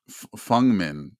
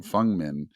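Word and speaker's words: Feng Min: I ran into um I'm getting used to saying fungmen that's how you pronounce her name fungmin um I ran into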